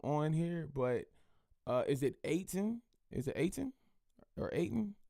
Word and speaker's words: Eytan: He said it rhymes with Akon, so I'm going to go with Aiton.